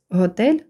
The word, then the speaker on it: hotel: Ground лікарня Hospital Hospital Hotel наголос на другому складі хоча ви можете почути як наголошують і перший склад Отже обидва варіанти будуть правильні Церква площа Square Square